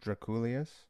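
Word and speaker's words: Drakoulias: anyone that's listening george i is his name pronounced draculus yeah who has made a bunch of records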